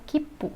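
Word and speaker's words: きっぷ: Kipu, tsu kecil ditambah pu, ya. Fu, huruf fu ini dikasih maruteng, jadinya kipu. Huruf pu ya. Karena ada tsu kecil jadinya double, kipu.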